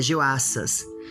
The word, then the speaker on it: Joaças: Perdão a pronúncia em português errado. É Joaças, o rei de Israel.